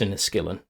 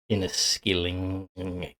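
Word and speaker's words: Inniskilling: l in a skillin it is pronounced in a skillin even though it is in a Skilling trust me Scottish grandparents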